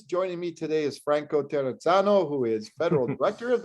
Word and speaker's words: Terrazzano: name i love it i was told a lot of times the doubles that is like pizza all right so let's